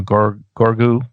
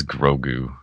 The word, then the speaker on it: Grogu: have been you know gorgu gorgu or gorgo i think it i think it's grogu grogu g-r-o-g-u yeah it's gonna